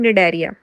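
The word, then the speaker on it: Cnidaria: सी तो हैगा निडरिया देखो सी जो है ना वो साइलेंट है वि एन तो ही त प्रोनाउंस करना है इन निडरिया सिमिलरली टीनोफोरा थर्ड सी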